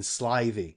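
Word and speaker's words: slithy: to pronounce slivy toves the eye in slivy is long as in wraith and tovs is pronounced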